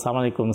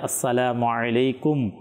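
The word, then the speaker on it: السلام عليكم: করা হয় ভুল পদ্ধতি, এরপরে আরবিও উচ্চারণ হয় কিন্তু সালাম আলাইকুম, সালাম আলাইকুম মানে শুদ্ধভাবে যে আসসালামু আলাইকুম শব্দ যে উচ্চারণ করা, অনেকে তো সালাম করেন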